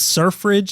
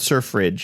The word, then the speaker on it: Surfridge: City at Sea is surf Ridge is what it's called surf Ridge I wouldn't know I don't know if that's necessarily easy to pronounce it also sounds like sir fridge I didn't know sir